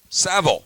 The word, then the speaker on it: Savill: retire sha sville or Saville Sean savil it rhymes with travel and he runs in